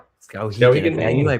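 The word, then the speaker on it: Skowhegan: Scowaggan. Scowagen. I knew I pronounced it incorrectly.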